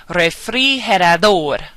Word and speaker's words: refrigerador: So we're going to put the stress that we say on the very last syllable. For example, refrigerador, visitar, responder, papel, internet.